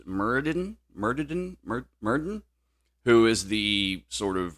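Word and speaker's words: Myrddin: of not quite Merlin, but I believe it's pronounced Murden, who is the sort of real life basis.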